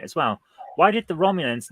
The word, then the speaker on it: Romulan: Because if you speak Klingon, then the Klingon word for a Romulan is Romulusnugan. So at some point we must have found out that the Romulans pronounced something like Romulus, and that's how we get the Romulan.